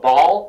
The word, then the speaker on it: Baal: English pronounces it Baal, I believe. And that's yeah. Hebrew doesn't matter. Baal is how you would say it in Hebrew, but that doesn't matter.